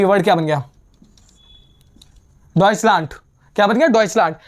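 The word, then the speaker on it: Deutschland: डसलंट। क्या बन गया? डसलांट। ये मेन इंपॉर्टेंट वर्ड है। ये ये और ये ठीक है? ये डॉइस जर्मन को बोलते हैं। डॉइसलांट जर्मनी को बोलते हैं।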